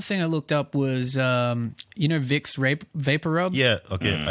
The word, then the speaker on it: Vicks: But if you look at in Germany, it's spelt Wix, like with a W, because Okay, Germans okay. use W. They make a V V, sound. okay. Yeah. So even though the brand is Vicks Vapor Rub, they've put a W